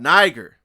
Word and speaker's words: Niger: The term Niger equals black. And Niger is not how you pronounce it. You really say Niger.